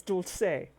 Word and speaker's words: dulce de leche: People pronounce it dulce de leche. No, that's wrong. It's dulce.